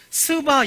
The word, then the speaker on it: 스바: 입니다 대학 부장 팔짜 스바 여왕 이라고 있어요 발음 조심하셔야 되요 스바 여왕 이라고 굉장히